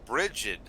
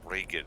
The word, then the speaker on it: Bridget: You said break it, and I was like break it. Well, that's how it phonetically is spelled. right. No, it's G as in J, like a J sound.